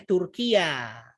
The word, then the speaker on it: Turkiya: Ini bacanya Turkiya.